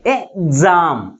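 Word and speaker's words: exam: ఏ వచ్చింది కాబట్టి ఇప్పుడు ఇది ఎలా ఆర్టికులర్ చేయాలి ఎగ్జామ్ ఎగ్జామ్ అంటే ఎక్స్ నుంచి ఈ అనే సిలబుల్ ఏమైపోయింది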